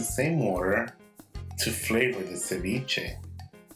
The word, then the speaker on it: ceviche: Ecuadorians famous shrimp ceviche or as it is pronounced in Spanish ceviche become a doughnut coming up to make ceviche de camarones you're using two pounds of shrimp